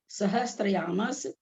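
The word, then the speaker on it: सहस्रायामः: प्रथमो योजन सहस्रयामस तदर्थ विष्कंभो हृदय। प्रथमो योजन सहस्रयामस तदर्थ विष्कंभो हृदय।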